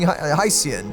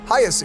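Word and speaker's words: Hyacine: me of her also I have been saying her name wrong this entire time I've been saying hean it is highest it's like ha ha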